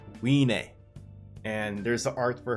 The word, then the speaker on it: Wiene: the anime and it is the dragon's daughter we nae now say with me guys we nae that's how you pronounce her name weenay and there's the art for her it says